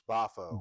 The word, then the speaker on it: Boffo: And they're part of, and pronounce your new company's name again, Jimmy. It's Bafo.